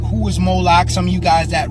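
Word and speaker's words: Moloch: The MLK is vocalized as Moolik or Moolok in the Maseretic texts, which is an authoritative text in rabbitic Judaism. It's from this pronunciation that we get the contemporary name Moolok.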